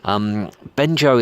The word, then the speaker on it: Bengeo: Bengeo is spelled B-E-N-G-E-O, but the E at the end is not pronounced, so they call themselves Bengeo.